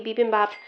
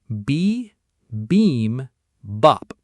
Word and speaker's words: bibimbap: This looks like a Korean style kimchi bibimbap self-heating rice. Let's link it to three lightning-fast rhyming building blocks. B beam bop.